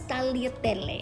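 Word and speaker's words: tagliatelle: it in the store that word is spelled with the g but because the g meets the l in italian whenever that happens the g then becomes silent so pronounced is what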